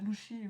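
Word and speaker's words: Lucy: Je sais qu'en VO, tu prononces ça Lushi, voilà, mais genre, de base, c'est pas un prénom que tu te dis, c'est japonais.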